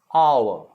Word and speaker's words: hour: hard it is a hour there's no h pronunciation in these three words all right there are